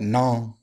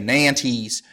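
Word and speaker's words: Nantes: with pants correctly said is more like non Edict of nom if you say Nance that's fine as long as you don't say nan T's which sounds super American I said here at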